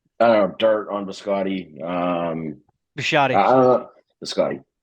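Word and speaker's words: Bisciotti: I don't think you pronounce it correctly. It's Biscotti, but it's fine.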